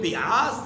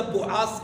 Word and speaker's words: بعاث: میں ہوئی اس کو جنگ بیعاث یا بعاث کہتے ہیں، مختلف الفاظ کی طرف۔ تلفظ کے ساتھ ہے۔ یہ جنگ ان